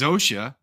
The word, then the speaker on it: Zosia: Yeah, but they whenever they pronounce it, they say Sorca. It's it's it's Zosia.